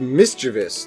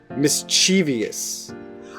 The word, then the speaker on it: mischievous: pronounced like mischievous Zach a Harvard dialect survey found that over 26% of Americans pronounce the word with four syllables why according to merriam-webster